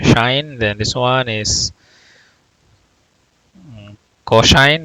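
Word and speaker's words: sinh: So instead of hyperbolic sine, so you can pronounce it as shine. Well, it's easier, shine.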